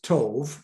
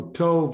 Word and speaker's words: tov: it's a holeman hebrew usually pronounced as a long o so tov is the proper to